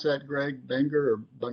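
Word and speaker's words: Buenger: Walter Benger, who is that how I pronounce that, Greg? Benger or Benger, yes.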